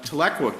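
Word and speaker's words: Tahlequah: In fact, the the city of uh Tlequa case, that's how you pronounce that.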